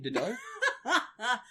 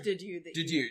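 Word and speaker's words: Dedue: So, next up, we have the person I now retract Lunk from, what was his name, Dido? I think it was, I think it was Didu.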